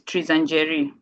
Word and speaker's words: Tanjeri: Um, so my name is Tanjeri. That's just how it's pronounced.